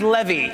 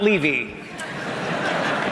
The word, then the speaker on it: Levy: If it goes well tonight, my name is pronounced Levy, not Levy.